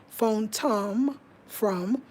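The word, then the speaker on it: fontomfrom: and they the the if you go look up phone f-o-n tom t-o-n from or f-r-o-m i mean it's one word but that's how i remember how to say it phone from from phone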